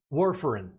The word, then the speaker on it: warfarin: up i think very quickly was is it where foreign am i pronouncing that correctly warfarin yeah can you explain what that is very